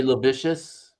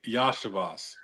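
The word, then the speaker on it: Iosivas: Andre Lovicious. Oh, Andre Yashavas. Yash. Yeah, that's an I. That's not an L. I know you think that's not an I. Is it? Yeah, it's an I. It's I, Yashavas.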